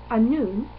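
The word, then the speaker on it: Annwn: then it's actually pronounced a noon and it is the welsh word for the underworld um or the summerlands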